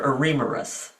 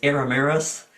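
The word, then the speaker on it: Eremurus: These are Ammeris or I think actually the correct pronunciation is Aramis.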